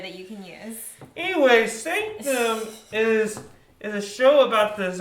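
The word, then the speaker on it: SNCTM: Sanctum, they took out all the vowels. But it's pronounced Sanctum. But it's pronounced Sanctum.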